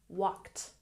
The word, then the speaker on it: walked: a look at pronunciation even though there's an ed at the end it makes a t sound walked walked Walked good and about